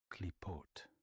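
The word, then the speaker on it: Qliphoth: In the context of Jewish mysticism, this term Kulifov is pronounced as Klipot. Klipot. Despite the unusual spelling with the letter Q, the initial sound is pronounced as a standard hard Ka.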